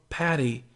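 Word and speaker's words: Patty: to use my childhood name of pati because it rhymes with fatty is one I could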